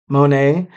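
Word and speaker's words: Moné: Mercedes Mone's Monet.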